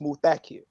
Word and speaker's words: Muthakir: So he told me it's pronounced Muthakir, and he told me that the accent is on the second syllable.